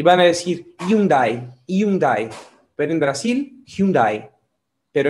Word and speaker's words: Hyundai: la de onda porque tenemos una h así que no la pronunciamos y van a decir hyundai hyundai pueden brasil hyundai pero en españa y en todos los sitios hispanohablantes hyundai esta otra es una